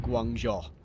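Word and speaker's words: Guangzhou: Between this game, they'll be into the playoffs in Guanghou. Guangha. I've been tried to I've been taught how to pronounce that today. Like more Guang Guangjo.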